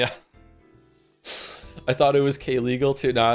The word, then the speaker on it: Kaylegal: Thank you very much for being a part of the community, Kaylee. Sorry for getting your name wrong for so long, K-Legal.